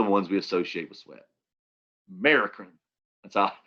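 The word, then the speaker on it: merocrine: we associate with sweat american that's uh that's how i say it american kinda like america american but you might hear it called mericrine or americreen then you have another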